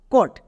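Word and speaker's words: caught: কো plus ওট কট। এবার এখানে একটু লক্ষ্য করে দেখো। এখানে কিন্তু জিএইচ এর উচ্চারণ হয়নি। জিএইচ এখানে সাইলেন্ট।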